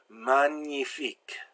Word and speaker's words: magnifique: When G is followed by N, it's pronounced like the N-I in onion, kind of a strange sound. Magnifique, champagne.